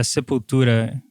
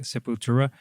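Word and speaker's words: Sepultura: Yeah, Sepura is actually how we call that. Uh, people say like Seputura.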